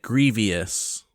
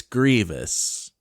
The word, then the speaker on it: Grievous: talking about grievous but he was pronouncing it grievous pronouncing the eye and i was like no no it's grievous he's like um actually it's grievous because there's an eye in it and like